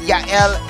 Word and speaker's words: Yael: It rhymes. Yael with ML.